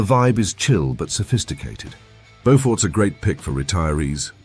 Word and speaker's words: Beaufort: Beaufort, North Carolina, pronounced Beaufort. Don't mess it up, locals will correct you.